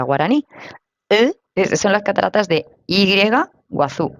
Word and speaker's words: Iguazú: es una palabra guaraní son las Cataratas de y guazú y guazú pero la Y esa se dice Perdóname pronunciation pero si se dice algo así como